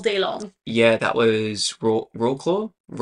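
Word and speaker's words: Wrocław: Yeah, that was Rocklaw. I don't know how to pronounce it. The W's are V's, but it doesn't make sense. Yeah. I know what you're trying to say. Anyway. Rocklaw.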